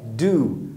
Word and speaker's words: due: Bom, primeira coisa é que a pronúncia dessa palavra é essa mesmo, é do, do. A mesma pronúncia do verbo fazer, to do.